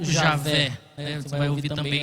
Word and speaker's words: Javé: Geralmente a gente fala com o W com som de V, né, no português. Então nós vamos chamar de Iavé ou Javé, né?